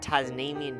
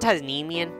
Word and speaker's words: Tasmanian: animal being named that Tasmanian Devil is just like so scary is it titanium Tasmanian oh okay I've been mispronouncing it but that's just scary